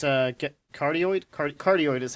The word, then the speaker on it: cardioid: Yeah, it's a cardioid.